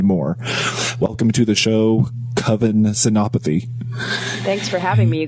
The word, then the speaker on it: Kavin Senapathy: Welcome to the show, Kavin Senapathy. Thanks for having me, you guys, and you pronounced my name perfectly, which rarely happens, so on that.